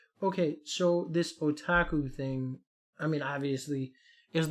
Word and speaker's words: otaku: oh what is the yakaku what's the word again otaku you're saying it wrong so many times it's me up now oh otaku all